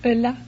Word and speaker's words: Ulla: Ulla? Is that how you pronounce it? Ulla. Ulla. Yeah, Ulla. French have a word for it. Ooh la la.